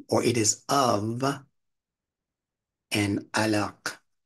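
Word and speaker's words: علق: it is of and alak alak so what is an this is L again L pronounce it to yourself and let it go to the back of the throat that Q sound all right so that's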